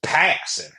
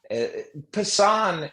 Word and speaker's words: Passan: I Well, Jake Jake just goes passing. It's like Yeah. Passan is is how it is most commonly mispronounced.